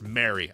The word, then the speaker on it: Mary: I'm glad it's pronounced Mary. I'll accept no other.